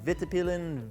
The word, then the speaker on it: Vitpilen: And then the model name is Vitpilen, Vitpilen.